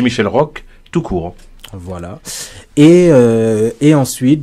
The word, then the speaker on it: Roch: Michel Rock. R-O-C-H. J. Michel Rock, tout court.